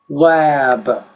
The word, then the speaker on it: lab: or cap cab lap lab so when it ends in B the vowel will be longer when it ends in P the vowel is going to be shorter and the way that